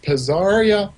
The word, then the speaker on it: Pazzaria: So the name of my company is pronounced Pazzaria Productions.